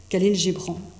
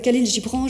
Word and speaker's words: Khalil Gibran: vous le connaissez tous Kalin Gibran je prononce à la française je prononce pas je prononce pas comme à la libanaise les noms avec Khalil Gibran je découvre une mythologie